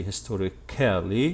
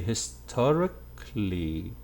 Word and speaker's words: historically: you will notice that we do not say historically no we say historically historically not kelly i hope this is